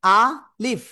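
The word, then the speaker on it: ألف: ওকে এখন যে বিষয়টা বলতেছি আ লিফ আ একটু শক্তভাবে উচ্চারণ হবে। আর শেষে এসে কি হবে? এই নিচের ঠোটের পেট উপরে দুই দাতের আগার সাথে লাগাবেন। লাগিয়ে হালকা বাতাস বের করে উচ্চারণ করবেন।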